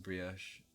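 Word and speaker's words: brie: In American English, it's bri. I pronounce it bri normally.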